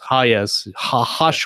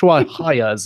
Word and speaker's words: Hayes: Hayes. Hayes is how you pronounce it.